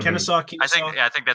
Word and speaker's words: Kennesaw: Kennesaw.